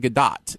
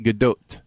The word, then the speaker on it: Gadot: like it would usually, you would think a silent T, and it's Godot. also not Godot. It's like Godot. It's like it's got a little Godot. Yeah, Godot. Godot. Like that. You have to say it like that.